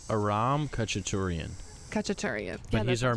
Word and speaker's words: Khachaturian: Saber Dance by Khachaturian. Khachaturian? That kind of sounds right, because I said Katurian, which I knew I said it wrong.